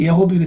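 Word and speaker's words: יֱהוִה: 이 정확히 발음하기 예호비가 됩니다.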